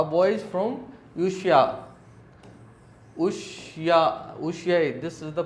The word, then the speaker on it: Ushuaia: A boys from Ushuaia, this is the pronunciation.